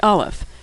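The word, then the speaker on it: אלף: hebrew alphabet is aleph aleph is easy to pronounce it's silent aleph is the first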